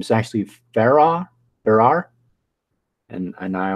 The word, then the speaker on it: Farrar: the history and steward for and I always mispronounced their last name is actually Farah there are and and I always say I think it's Farah and I always say Farrar so I always mispronounced their last name but